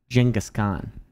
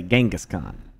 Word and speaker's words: Genghis Khan: Yeah, that's how you say his name properly in Mongolia. It sounds like a J. Genghis Khan. I don't know. Western people say Genghis Khan.